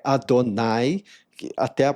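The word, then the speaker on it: אדני: Segundo, porque a pronúncia dessa palavra no hebraico é Adonai, que até a pronúncia parece com a palavra dono.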